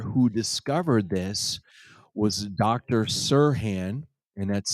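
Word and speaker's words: Serhan: um the doctor who discovered this was Dr Sirhan and that's spelled s-e-r-h-a-n from Harvard Medical and he basically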